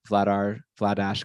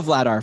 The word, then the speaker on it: Vladar: All right, so we're gonna go Vladar from now It's on. Vladar. Okay, Vladar. Well, I'm seeing, yeah, that's how I'm reading the pronunciation. So it's like batter.